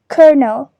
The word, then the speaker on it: colonel: Moving on, this word is pronounced as ker-nel in American English, and in British English it is pronounced as kernel.